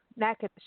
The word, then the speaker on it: Natchitoches: I'm going to spell it because it's not how it sounds. It's Natchitoches, like Natchitoches. Natchitoches. Natchitoches is how you pronounce it.